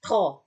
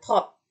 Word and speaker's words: trop: P, ketika si P ini terletak di akhir kata, dia nggak dibaca. Contoh, tro, bukan trop.